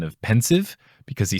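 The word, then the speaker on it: Pensieve: found very interesting is alan rickman / Snape's pronunciation of pensive because he says it like it's a French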